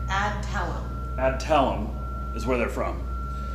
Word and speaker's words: Adtalem: And it's, how do you pronounce the company name? Adtalem.